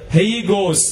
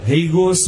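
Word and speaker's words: ἅγιος: Greig भाषे शब्द म्हणतात ग्रेक भाषेत पवित्र मिळणार हे गोस म्हणतात हे गोस मिळणार असा अर्थ स्पेलिंग असा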